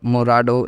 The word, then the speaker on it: morado: purple in English called morado in Spanish you can pronounced it by splitting into three parts that is Mo Advance r a at once and d o Advanced so it becomes Morado okay now color number